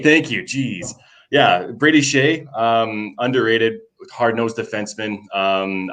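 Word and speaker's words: Skjei: his name um i can't even do it shea thank you jeez yeah brady shay um underrated hard-nosed defenseman um i don't know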